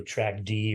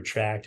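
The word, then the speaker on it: TRACKd: a c k d so track D or track however you want to pronounce it is fine with us as long as you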